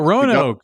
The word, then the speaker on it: Roanoke: It rhymes with Mo and And we Oak. only have 38 minutes. Oh, Roanoke, It Virginia. rhymes with Mo and Oak.